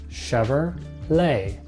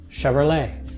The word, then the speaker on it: Chevrolet: Another car manufacturer, this one is pronounced Chevrolet. Chevrolet. Chevrolet.